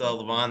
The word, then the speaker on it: Lavion: mean it's different so I like it it's Leon the eye is silent so all right don't forget it no